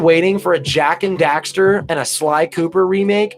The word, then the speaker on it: Daxter: 5 Sly Cooper and Jack and Dexter or Jackson Dexter is it Jack certainty it's jack I think it is knock it back Stern how do you say it oh it's jak and daxter I got it mixed up ok yeah jak and